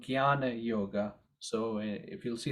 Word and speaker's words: Jnana: topic of what's called Jnana Yoga. So if you'll see the Sanskrit, it says J and the Nye. So when you see J and Nye, it becomes G and Y phonetically.